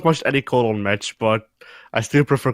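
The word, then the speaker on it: Colón: I have not watched any Colon match, but I still prefer Carlito. Carlito is awesome. I like how you pronounce it. You don't pronounce it Cologne, you pronounce it colon.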